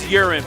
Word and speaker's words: uran10: It is uran10, by the way. I haven't mispronounced it. It's a soft A sound.